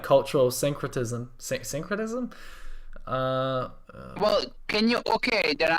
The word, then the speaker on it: syncretism: Since culture is like okay, so how do I pronounce this? Syncretism.